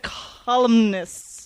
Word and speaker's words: columnists: You said columnists.